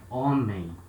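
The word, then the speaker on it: homem: example this word here on me it means men so letter 8 at the beginning of a word has no sound we start the sound at letter o only next class we're gonna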